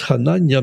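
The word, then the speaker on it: חֲנַנְיָה: Hananiah, which in Hebrew is pronounced Hananiah, means Jehovah is gracious.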